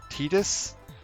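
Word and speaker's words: Tidus: no prop oh yeah yeah we got named Titus uh who I'm going to be calling Titus this entire time uh and I think they have officially confirmed that his name is pronounced tetus and I will never say that of my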